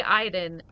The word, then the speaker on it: Aiden: the fudge Aiden Iden it's spelled Aiden so I read it Aiden but they say Iden I don't know this